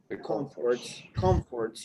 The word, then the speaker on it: comforts: to leave the comfort comforts you have the stress on the first is right to live the comforts